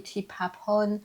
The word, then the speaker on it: Tipapon: Mon prénom, mon vrai prénom, à ma naissance, c'est Tipapon. OK. Prononcé à la laotienne, on dit Tipapon.